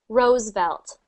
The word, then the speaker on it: Roosevelt: So that one's Roosevelt. Roosevelt. Rose. So when you see that V sound, think of biting your lip.